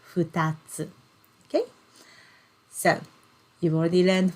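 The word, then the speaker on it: 二つ: we we learn okay in this word we pronounce this kanji character as futatsu okay so you've already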